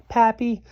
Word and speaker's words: papillon: I hope we get a papillon, like our neighbor's dog. You say it like this, papillon.